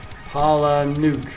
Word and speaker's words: Palahniuk: And I've been reading some Chuck Palahniuk. I don't even know I never knew how you pronounced this. I'm actually using it to raise my mic. Palahniuk.